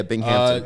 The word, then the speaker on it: Binghamton: benefits um and then uh how do you pronounce the school binghampton yeah binghamton still don't think still don't know where they